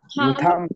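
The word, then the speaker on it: thumb: না মিস হবে এখনই কনফিউশন দূর হচ্ছে বলো থাম থাম থাম থাম থাম এটা সবাই জানো যে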